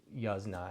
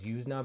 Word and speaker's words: Yuzna: Uh and he said, Yuzna. And I always thought it was Yuzna before that. Anyway, that's besides the point. Uh but, Brian Yuzna, if you did not know, directed this, he